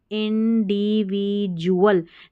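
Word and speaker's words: individual: चलिए आगे देखेंगे कॉन्सिक्वेंटली, कॉन्सिक्वेंटली यानी कि परिणाम स्वरूप, इंडिविजुअल, DUALS है ना, इसको जुअल करके पढ़ेंगे, इंडिविजुअल, INDIDVIV, इंडिविजुअल्स, S लगा है तो जुअल्स हो जाएगा, यानी कि व्यक्ति।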